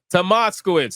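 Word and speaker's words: Tomaszkiewicz: Tomaskiewicz.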